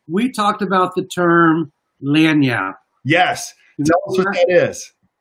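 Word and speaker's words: lagniappe: no nothing okay we talked about the term lanyard yes yes like spell that for me oh don't tell don't worry about it so what is that is it's spelled l-a-g-n-i-a-p-p-e dania and and land yap is is my one of my favorite words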